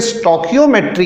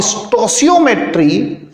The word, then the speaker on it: stoichiometry: बहुत जगहों पर इसे स्टोकियोमेट्री कहते हैं। स्टोइचियोमेट्री और स्टोसियोमेट्री ये इसका करेक्ट प्रोनाउंसिएशन है। स्टोसियोमेट्री, this is the correct pronunciation.